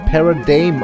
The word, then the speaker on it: Paradigm: Oh, Paradigm wird Paradigm ausgesprochen. Hätte ich nicht gedacht. Child a failure? Weil es heißt ja Paradigmenwechsel.